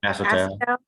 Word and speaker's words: acetal: Acetal.